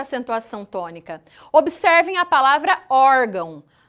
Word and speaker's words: órgão: A sílaba mais forte da palavra órgão é o or. é a penúltima sílaba. O til, ele marca apenas a nasalização, ele marca que o som que eu estou produzindo não sai exclusivamente da minha boca, e sim também do nariz.